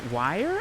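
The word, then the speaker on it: Weier: Anissa Wire, I think is how you say her name, and Morgan Geyser.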